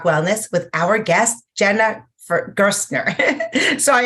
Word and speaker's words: Gerstner: with our guest Jenna gersner sorry I keep thinking it rhymes with first and uh yeah Jennifer